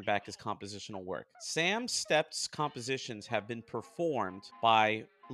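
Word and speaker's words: Stept: about Sam stepped himself s-t-e-p-t so it's like step with the teeth it's a little weird to pronounce it but I'm just gonna say step Samuel Howard stepp was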